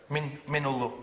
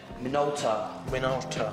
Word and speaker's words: Minolta: Minolo. How do you pronounce it? Minolta.